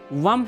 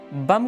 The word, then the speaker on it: वम: हुए कहा, अरे भाई, बम शब्द का जल का विष मंत्र वम है, जिसका लोगों ने ठेठ भाषा में उच्चारण ही बम कर दिया है।